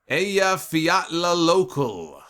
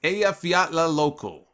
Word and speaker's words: Eyjafjallajökull: The Eyjafjallajökull. I think it's Eyjafjallajökull volcano erupted in Iceland.